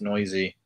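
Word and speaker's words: Neuse: sheldon noisy uh his his name is spelled like noose but it's pronounced noisy and uh somebody hit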